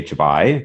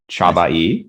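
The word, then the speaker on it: Csabai: Now that I've learned how to say his name, because I used to say Chabai, but I had a Hungarian patient who told me it's Chabai, so Abel Chabai.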